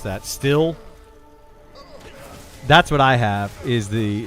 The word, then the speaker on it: STIHL: However you pronounce that. Still.